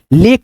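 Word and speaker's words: lake: टेक फिर यहां पे एल ए के ई लेक पढ़ेंगे ठीक है एफ ए के ई पेक ठीक है?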